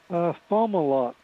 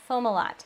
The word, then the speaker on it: Fomalhaut: How do you pronounce this star, Kent? Fomalhaut. Fomalhaut.